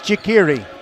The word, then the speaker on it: Chikiri: rhyme with hickory. It's Chikiri.